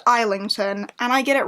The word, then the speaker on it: Islington: by James Islington isington I do it every single time it's pronounced isington and I get it